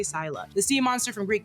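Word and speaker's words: Scylla: angel of the Abyss Sila or Sila however you guys want to pronounce it I say Sila the sea monster from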